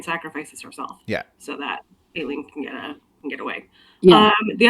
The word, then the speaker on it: Aelin: It's Aelin. If it makes you feel better, my first pronunciation was also Elide.